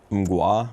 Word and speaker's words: Mgła: What's the name of the band? MUA, but it's spelled like MGLA.